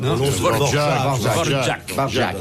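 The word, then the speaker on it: Dvořák: Dvorak. Ça se dit Dvorak. Enfin, si ça vous se voulez prononce l'appeler Dvorak.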